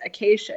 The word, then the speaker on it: Acacea: But then he made the mistake of saying my name correctly, which was Acacia. He was talking about the acacias in his lecture.